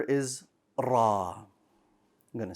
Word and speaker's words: ر: pronounced as an r ra if you can hear there's a slight difference between the two rabbika rabbika i pronounce one with a ra and the other with an english r you don't want them